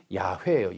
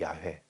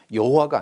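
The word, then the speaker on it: 야훼: 그나 사실은 오리지널 발음은 여호와가 아니고 거의 야에 가까워요.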